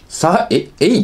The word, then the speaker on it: 永依: 主役を演じた方、エイって読むんだ。